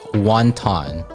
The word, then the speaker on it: wonton: about what wontons are so the um actual word wonton which is the english version is w-o-n-t-o-n wanton in chinese there's two different pronunciations one is the cantonese version the wonton and then the mandarin version of ooh i like that one